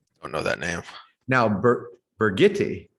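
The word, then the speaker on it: Birgitte: know that now now burgetti brigitte the german pronunciation of bridget that is exactly who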